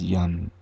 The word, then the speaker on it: Yum: The bija for Anahata is Yum. It can also be pronounced Young.